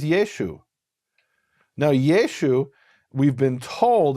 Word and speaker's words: Yeshu: They didn't pronounce the ayin, so Yeshua became Yeshu.